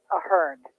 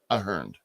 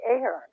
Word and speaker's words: Ahern: Well, the name is an Irish name, Yeah. and it is said Ahern. Ahern. But Okay. here in America, people say Ahern.